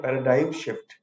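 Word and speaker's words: paradigm: ठीक है, आइए समझते हैं पैराडाइम शिफ्ट। इसके प्रोनाउंसिएशन पे ध्यान दीजिएगा। जी साइलेंट रहता है।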